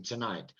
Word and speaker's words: tonight: in an unstressed syllable so um tonight tonight no tonight because night is stressed tonight the second syllable is stressed in tonight so the vowel in two is reduced to and that sound is